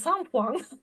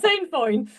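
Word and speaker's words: sainfoin: A horse owner I was working with in France, and of course you pronounce it sampoing. So I now call it sampoing, not sandfoin.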